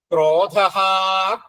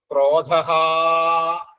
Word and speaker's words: ക്രോധഹാ: എന്ന് വരും ഇഷ്ടോവിശിഷ്ടശിഷ്ടശിഖണ്ടി നഹുഷോവൃഷ ക്രോധഹ ക്രോധകൃത്കർത്താ അവിടെ ഉച്ചാരണം ഒന്ന് ശ്രദ്ധിച്ചാൽ മതി ക്രോധഹ ക്രോ എന്ന് വരണം ക്രോ അല്ലാതെ ക്രോധ ക്രോധ അങ്ങനെ പോരാ ക്രോധഹ ക്രോധകൃത് കർത്താ ക്രോധഹ